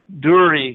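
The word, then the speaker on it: דור: If one looks up ball in the Strong's Concordance, one will find that it is listed as the Hebrew word dur, D-U-W-R. Duri is the pronunciation, which is defined as a circle, ball, or pile.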